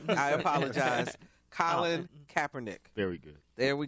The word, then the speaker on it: Colin: can say it correctly his name is Colin not what did I say I said col apologize Colin Kaepernick very good there